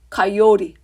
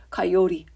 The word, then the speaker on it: coyote: 가요 티 가요 티 카요리 빨리 가면 돼요 가요 가요 카요리 그래서 혀가 올라갔다가 터치 안 하고 살짝 내려오는 거야 카요리 이렇게 카요리 자